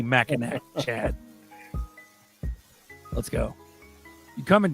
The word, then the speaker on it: Mackinac: Heck Shout out Chad Bennett from Mackinac. Glad to be fuck part that. of the madness. Hard C. Mackinac. Mackinac. Hard It'll C. always be Mackinac, Chad.